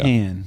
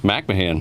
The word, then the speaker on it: McMahan: I always get your last name wrong. McMahan. McMahan. There you go. McMahan. Yes, sir. I mean, I like McCanahan. but McMahan? McMahan.